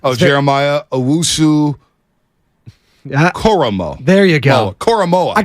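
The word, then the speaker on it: Owusu-Koramoah: I can't pronounce his last name. Jeremiah Owusu Koromo.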